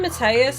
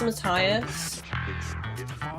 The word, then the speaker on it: Matthias: I keep saying Mateus, it's Matthias.